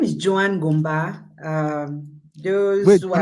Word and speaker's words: Joan Ngomba: of that so so the right pronunciation is Joan Joan GBA um because so any